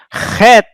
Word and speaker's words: Het: You pronounce from your throat. Hey. Het.